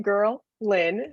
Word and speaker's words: Girlin: So my name is Girlin, pronounced like girl, Lynn.